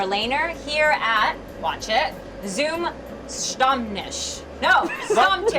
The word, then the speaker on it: Zum Stammtisch: So, Warner, what does the name ZumStammtisch mean?